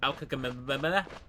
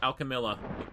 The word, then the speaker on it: Alchemilla: Yeah, I I I Alchemilla Hospital. I used to have so much trouble just pronouncing the name of it. Be like Al Alchemilla And it's like no, it's just Alchemilla.